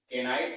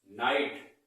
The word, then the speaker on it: knight: इसी तरीके से नेक्स्ट हमारा है नाइट, क्या बोलते हैं इसको, KNIGHT, केनाइट नहीं होता है, इसका सही प्रोनाउंसिएशन नाइट होता है। क्या होता है, नाइट, क्या होता है इसका, नाइट।